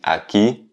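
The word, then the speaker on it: aquí: être acquis donc ici acquis avec un accent sur le i donc on dit à qui on a accentué la dernière syllabe acquis ou ak comme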